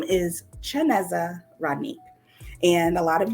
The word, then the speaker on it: Chineze: But it's Chineze, not pronounced anything like that.